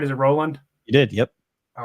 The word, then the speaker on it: Rowland: on thanks for coming on it did I pronounce it right is it Roland you did yep all right awesome um so